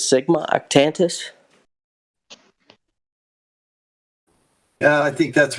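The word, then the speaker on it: Sigma Octantis: uh the Southern Cross and I believe it's Sigma octantus yeah I think that's right you're you're that's correct on the pronunciation um cygnus art tentus I am looking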